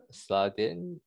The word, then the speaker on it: Sladin: So moving along, next we have, I'm going to pronounce this wrong, Sladin, is that right? Yeah, it's Sladin, thanks.